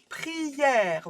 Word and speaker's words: prière: Prière はpri、ye、prière.